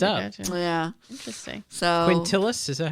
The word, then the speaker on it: Quintilis: But before it was called July, the month for them was called Quintilis.